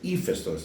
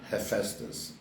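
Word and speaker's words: Hephaestus: They go, "Oh, you mean eestos?" I go, "What? Ephestos?" So, the proper pronunciation is ephestos, not heesus.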